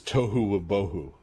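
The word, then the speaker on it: tohu va-bohu: Uh in in Hebrew, it's funny because it rhymes. Uh the world is tohu boho which um the King James version translates as uh formless and void without form.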